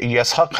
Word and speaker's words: اسحاق: اسحاق اصل تلفظ کے اعتبار سے یسحق ہے، یہ عبرانی لفظ ہے جس کے معنی ہستا ہوا ہے.